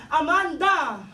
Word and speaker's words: Amanda: My name is Amanda the intonation goes at the third syllable Amanda Amanda Yes correct and this